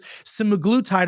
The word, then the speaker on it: semaglutide: Semaglutide or semaglutide, however you want to pronounce it. It's like potatoes and potatoes.